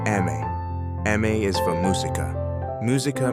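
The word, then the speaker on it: emme: M, pronounce Eme.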